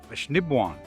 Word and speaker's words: Assiniboine: It's actually pronounced Assiniboine.